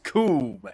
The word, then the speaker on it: Coom: The name is Coom, and it rhymes with Doom.